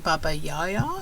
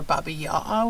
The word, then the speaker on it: Baba Yaga: who've told me that it's sometimes pronounced as baba yaya or baba yawa where there's um the g is silent so just want to